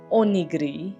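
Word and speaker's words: おにぎり: This is onigiri. Onigiri? Onigiri. I think so. That's what it's like. That's how you pronounce it.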